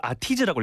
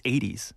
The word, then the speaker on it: ATEEZ: 그래서 제가 처음에 이걸 아티즈라고 읽었었어요. But it's not 아티즈. No. It's 80s. 80s. With a different spelling.